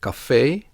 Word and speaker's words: café: With borrowed words from the French language, the E has an accent. In that case, it is pronounced as a long E, like in café, loger, and attaché.